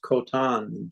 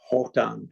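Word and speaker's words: Khotan: probably from what is kotan today's world hotan pronounced KH always in Mongolian pronounced almost a Dutch sound isn't that traveled from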